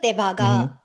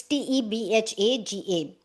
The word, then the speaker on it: Tebhaga: It's t e b h a g a. To be very honest, I I feel like I'm not pronouncing it correctly, but I don't know how else to do this. Tebhaga is what it sounds like to me.